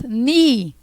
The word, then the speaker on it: knee: O joelho em inglês, nós falamos, começa com a letrinha K, mas a gente não pronuncia o K. Nós falamos knee, ok?